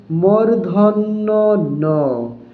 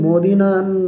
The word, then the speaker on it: মূর্ধন্য ন: দর্শক এই উচ্চারণটিকে অনেকে ভুল করে থাকে। তো সঠিক উচ্চারণ হবে মূর্ধন্য ন। মূর্ধন্য ন এটাকে অনেকে মদিনা বলে বা আরো বিভিন্ন ভুল উচ্চারণ করে থাকে।